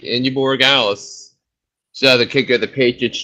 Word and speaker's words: Borregales: Eagles defense special teams, and 13 from Indy Bargalis from New England. Yeah. Yep, you said it right. Indy Borregales.